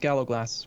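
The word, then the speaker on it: galloglass: and the galag gagay amazingly I think it's pronounced Gallow glass which makes no sense to me at all there's no that's an interesting way to pronounce i GS that's that's what I've been corrected people have told me before anyway uh so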